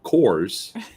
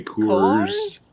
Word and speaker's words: Coors: man or as or as i pronounced it for a very long time course colors course now now i have to say coors yeah i don't know